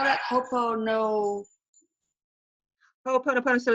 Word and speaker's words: Ho'oponopono: But anyway, how do you spell that? Ho'oponopono.